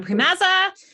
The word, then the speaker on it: Priemaza: us off sure uh my name is primazza as as randy said and pronounced it perfectly which was impressive um i